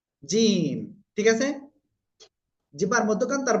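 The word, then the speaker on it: جيم: সবাই খেয়াল করতে হবে এই অক্ষরটা তাই না জিম ঠিক আছে জিবার মধ্যখান তার বরাবর উপরের তালুর সাথে লাগিয়ে তিন আলিফটা নিয়ে উচ্চারণ করতে হবে জিম আপনারা এভাবে কমপক্ষে 10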